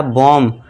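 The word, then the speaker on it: bomb: बी ओ एम बी। तो यहां पे यहां जो देखिए एम के बाद क्या है? बी है। तो यहां पे बी साइलेंट हो जाएगा।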